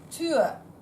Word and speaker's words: Tür: So instead of normal U would be U, this is Ö. Tür. Ö. Mach die Tür bitte zu.